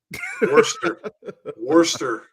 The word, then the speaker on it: Worcester: Worcester, Massachusetts, but it looks like it almost looks like Worcestershire sauce. It's spelled way different than it sounds.